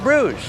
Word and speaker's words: Bruges: The French-speaking half of the country and English speakers call it Bruges.